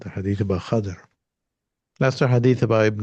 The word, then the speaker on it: Khidr: So Khidr, those are different ways, but most hadith experts say Khazir, or Khadr is the proper way.